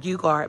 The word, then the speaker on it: Geiger: I call it Kirk Geiger, but it's actually pronounced Geiger.